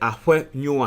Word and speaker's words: Afenyo: The actual pronunciation yeah, Afenyo. Na ewo anguna kasem no, you can say Afenyo a, and then it say efie ye.